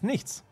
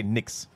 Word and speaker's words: nichts: The German one is nichts. Nicht. If you want to pronounce it a little more easily, you could also say nix. That's a little more nicht. common tongue. Now I'm trying to practice the back of my throat sounds anyway, all right. and German is a good language. Nichts would be a great word to practice that. Nichts. Yes. If you want to pronounce it in the Swiss way, nichts.